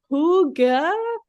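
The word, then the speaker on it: hygge: I'm saying it right Google says it's Huga but it's spelled h y g g so it's a Scandinavian word I have no idea how to pronounce it but it means like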